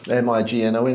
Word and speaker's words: mignon: little one the mcmigong Mead and how to pronounce it m i g n o n is it yeah yeah mignon so we've sort